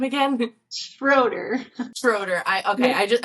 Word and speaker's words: Schroeder: to have and then how do you pronounce your last name again schroer schroer I okay I just I I'm was